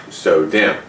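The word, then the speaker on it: SO-DIMM: a so dim or small outline dim and pronounced so dim uh micro dims are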